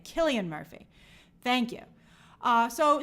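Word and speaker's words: Cillian: you Dylan race I'm never sure how to pronounce his name Killian Murphy thank you uh so so yes we'll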